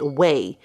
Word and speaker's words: Ouai: going to be using it's spelled o-u-a-i but it's actually pronounced whey i had to google